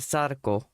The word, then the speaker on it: Sadako: That's how you pronounce it, Sadako.